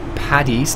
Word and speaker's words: Paddy: Ireland called Cavan, and it's not pronounced St. Paddy's Day, it's St. Pad with a D, he was saying. St. Paddy. Paddy? It's not a T, he says, it's a D.